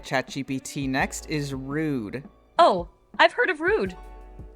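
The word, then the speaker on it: Rhude: Next is Rude. Oh, I've heard of Rude. And yes, spelled like a license plate made by someone who vapes in a G Wagon.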